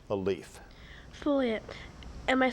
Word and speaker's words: foliate: Foliate.